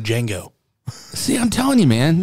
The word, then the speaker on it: Django: The I is silent, just like Django.